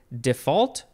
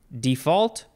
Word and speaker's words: default: just let's see okay you can emphasize either syllable default default or default default first